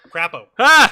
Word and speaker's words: Crapo: Crapo. Wait, did I mispronounce it? No, crapo.